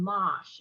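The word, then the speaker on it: mâche: i don't know if anybody's ever grown mosh it's spelled m-a-c-h-e it's a french green but it's very small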